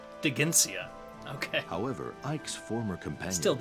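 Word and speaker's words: Dheginsea: accident the dragon king de ginsia oh i'm sorry i was pronouncing it wrong digencia okay however ike's former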